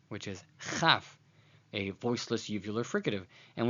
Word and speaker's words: chaf: So when the dot is present, it is kaf, and when it isn't present, it is chaf.